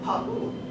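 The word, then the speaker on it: paʻū: The other word here, there's an okina and a kahako. It's pau, and that means moist.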